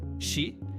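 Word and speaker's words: 四: O número 4 é considerado de azar no Japão, porque sua pronúncia, shi, é idêntica à palavra para morte.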